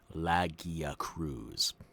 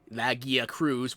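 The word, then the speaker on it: Lagiacrus: I need to know, okay, I need to know who in their scripting and their localization departments decide on the pronunciation. Who decided Lagia Cruz?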